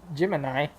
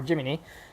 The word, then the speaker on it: Gemini: like Corolla or Holden gemini or jiminy depending on how you pronounce it but man it